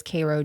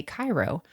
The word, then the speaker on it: Cairo: which I know is Koo Georgia but if you saw it or somebody else they would say Kyo so if you said Cairo everyone in Cairo would be like you're an idiot Soo in Egypt right